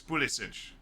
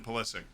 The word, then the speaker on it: Pulisic: I know the Croatian pronunciation of Christian's last name. Like it's Pulisic. Like I know that. But he is Christian Pulisic.